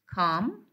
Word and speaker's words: calm: So as you see that we have L here, that it is followed by an M. So the L will be silent.